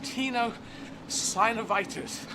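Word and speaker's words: tenosynovitis: right foot is strapped up because I have Tino synovitis I've learned how to say it I'm not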